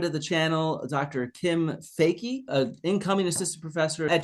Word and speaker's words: Foecke: and and then she told me no it's fakey but the her her family what what happened